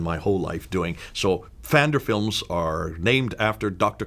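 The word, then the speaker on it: Pfander: so your ace yet fender it's named after dr. cult fender and it's you you do pronounce the P who is my hero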